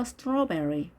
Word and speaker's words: strawberry: 자, AW의 발음 보시면 자, 이중 모음입니다. W가 단어 끝에 있을 경우는 자, 모음이라고 했었죠. straw와 berry가 합쳐진 말이죠. strawberry. 따라서 AW가 발음 났죠. O와 I의 중간 소리 strawberry, strawberry. 자, 우리말에는 없는 발음인 거죠. 자, 두 개 이상일 경우에는 strawberries, strawberries. 자, 강세가 단어의 모음이 굉장히 많은데요. 앞에 있습니다. strawberries, strawberries 이렇게 읽는 거죠.